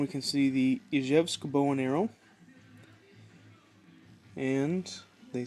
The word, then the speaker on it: Izhevsk: So the ZH in Izhevsk in the English version, you pronounce that like the S that you would say in the word vision.